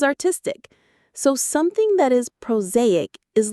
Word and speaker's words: prosaic: The reality of a long-term relationship is often prosaic. Proaic. The stress is on the second syllable. Z.